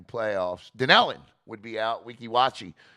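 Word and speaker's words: Weeki Wachee: Wekiwachi, or what Harry pronounced it, Wekiwaki, would move into the A spot because Denellen loses tonight to Hawthorne.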